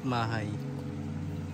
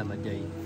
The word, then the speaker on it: Maday: yung kotse This is Camp mahay maday pala maday maday yung pronunciation nila E ayan so tatlo